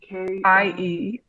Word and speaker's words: Knie: The modern spelling in German is KNIE, and it's pronounced Knie.